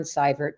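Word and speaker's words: Seibert: on LinkedIn that's cybert just look me up it's a spelling is EI pronunciation is cyber um and and I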